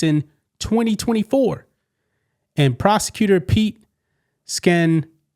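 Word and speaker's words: Skandalakis: Willis was disqualified from the case in 2024 and prosecutor Pete Scandalis, Scandalus, that's way you pronounce his name, took up the case.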